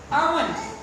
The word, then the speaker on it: almond: Almond. L is silent. Almond.